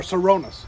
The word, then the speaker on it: Sirona Ryan: name is sirona Ryan okay and so our sironas is pronounced sirona so people are like people are